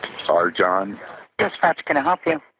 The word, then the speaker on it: Arcan: His name is Arjan Chetin, and he's from Turkey, so it's a little strange name, but it's spelled Arcan.